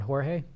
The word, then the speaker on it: Jorge: I think it's that I keep saying his name wrong. Jorge.